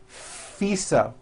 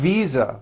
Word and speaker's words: visa: International faisa correct no I said fisa with an unvoiced F I should have said V Visa with a voiced V living I am living